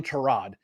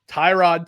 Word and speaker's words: Tyrod: the fourth quarter all a sudden they turn it on that two touchdowns from Tyrod I'm not calling him Trod Tyrod Taylor they blocked field